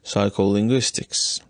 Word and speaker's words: psycholinguistics: is no difference between the first and the fourth syllables of psycholinguistics let me tap on